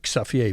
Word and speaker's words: Xavier: Xavier, we would say in Holland. We pronounce it different.